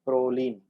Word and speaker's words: proline: a a nice okay most of the amino acids if you see their names end with irony in so you have to pronounce it as in serene violin proline lysine okay just a pronunciation again